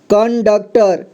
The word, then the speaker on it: कंडक्टर: computer और यहां पर कंडक्टर कण क में अं की मात्रा कण इसके बाद ड आधा क टर कंडक्टर ठीक इसे कंडक्टर पढ़ेंगे और यहां पर संसकार